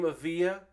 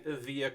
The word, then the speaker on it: Evija: I looked up the name Evija. I believe I am pronouncing that correctly. If I am not pronouncing Evija correctly, that means that people